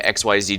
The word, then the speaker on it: Xyz: unless you mean referencing to XYZ Dragon Cannon, but that one's actually pronounced XYZ.